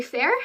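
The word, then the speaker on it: faer: so the last two you pronounce the first one um FEI fair and so it's f-a-e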